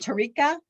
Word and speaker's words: Tarika: which office you're with is it tarika did i spell pronounce that correctly you did good morning um my